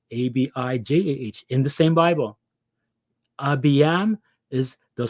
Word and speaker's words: Abijam: Abiyam they'll spell it Abijam.